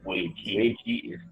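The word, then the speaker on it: 危机: One of the Chinese word, they pronounce it Wei Ji.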